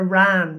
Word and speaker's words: wren: The hunting of the wren, or the ran, W-R-A-N, right, as it's often called, right?